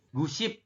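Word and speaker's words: 구십: Iya seperti itu ya gusip jadi gu ditambah dengan ship seperti itu masih saya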